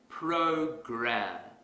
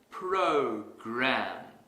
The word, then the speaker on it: program: to our previous example suppose I pronounce this word as poker that's incorrect because the our sound is missing if I want to fix this mistake quickly I will exaggerate the R sound program program program here's another